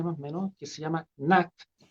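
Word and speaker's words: Gnat: menos que se llama Nat se escribe con g como ñata pero Nat Nat se pronuncia y en el fondo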